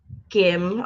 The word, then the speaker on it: Gim: Gim. Okay. Gim. Yeah. The gym, but with a G. Jim with the G. The hard G.